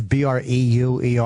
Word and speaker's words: Breuer: And Breuer is Breuer, because people spell it Brew. He's not the fucking governor of Arizona. It's Breuer.